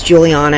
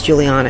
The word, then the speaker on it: Juliana: And my name is Juliana, and he would call me Juliana. So he would pronounce it the American way just to be annoying. And I'm just like, my name is Juliana, it's not Juliana.